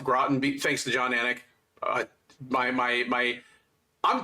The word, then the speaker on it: Groton: Well, Groton. I only even know it's pronounced Groton thanks to John Anik.